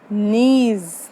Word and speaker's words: niece: Nephew has become the niece. Now this word is not nice. This is niece.